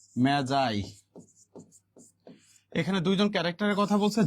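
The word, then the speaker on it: Magi: দা মেজাই উচ্চারণ কিন্তু এটা মেজাই নট ম্যাগি ঠিক আছে এটার উচ্চারণ কি মেজাই এখানে দুইজন ক্যারেক্টারের কথা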